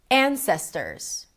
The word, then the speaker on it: ancestors: Ancestors. Ancestors. An, primary stress, long, ses, right there in the middle, secondary stress, ters, short. Ta-da-da. Ta-da-da.